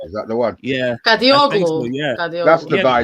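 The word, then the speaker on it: Kadıoğlu: I cannot pronounce his Kadi Waglu. Kadi Verlaglu. Yeah. Is that the one? Yeah. Kadioglu.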